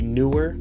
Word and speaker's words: Neewer: and it is the Neewer. I hope it's pronounced Neewer. I've always been pronouncing it that way.